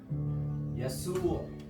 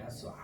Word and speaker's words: يسوع: 야수. 예수. 야수가 아니라 야수아입니다. 야수아. 우리 아랍어 발음 중에 아인이 있습니다. 목에서 나는 소리가 있는데, 그래서 이런 야수아, 야수아, 야수아, 야수아.